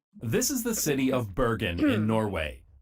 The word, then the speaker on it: Bergen: This is the city of Bergen in Norway. Apparently, it's pronounced more like Oh, Bergen heaven. in Norwegian, but I'm not going to try to Bergen. say it that way.